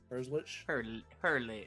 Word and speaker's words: Herzlich: Herzlich.